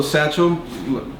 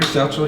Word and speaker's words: Sachil: Hey everyone, Crystal Coalition Gaming here, and also Sachil. What's up? Pronounced like the bag. Yes, apparently. Sachil like a bag.